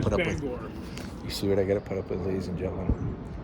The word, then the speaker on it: Bangor: That's like you guys calling Bangor Bangor. Yeah, Bangor, Maine. Do you see what I got to It's put up with? Bangor.